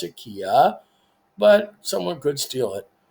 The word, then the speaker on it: Quia: says free account I say it's queer they pronounce it Kia but someone could steal it so we're going